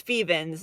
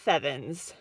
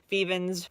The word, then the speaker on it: Fevens: people don't know what Fevens is. And yes, if you've been wondering, it's Fevens, not Fevens. Fevens rhymes with Stevens, but is not actually Stevens.